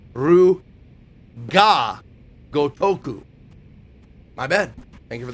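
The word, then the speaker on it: Ryu ga Gotoku: Oh, it is Gotoku. Man, I've been saying it wrong all the time. Right? Ryu ga Gotaku. Oh, it's ga Gotaku. I was always saying Ryu go Gotaku. But the actual is Ru ga Gotoku.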